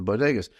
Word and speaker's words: bodega: like what the heck's Boda but I realized that she couldn't pronounce Bodega which is you know Spanish that's how you say it uh but I was